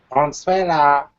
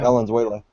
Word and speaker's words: Valenzuela: Venezuela. I almost said Venezuela. I was like, wait a minute. Nah, he's not a country. That's exactly how you pronounce it. Yeah. Valenzuela. Not Venezuela. Valenzuela.